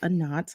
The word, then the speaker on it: A'nat: podcast I'm your host anat a lot of people mispronounce that it's a knot like uh not um if you haven't